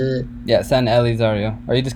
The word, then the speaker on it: San Elizario: in a way, or the what is it, San Azario? Is that how you say it? Yeah, San Elizario, or you just call it San Eli.